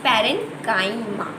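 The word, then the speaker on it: parenchyma: This is नॉट, इसको हम लोग पैरेन्काइमा नहीं बोल सकते, इसका करेक्ट प्रोनाउंसिएशन है पैरेन्काइमा।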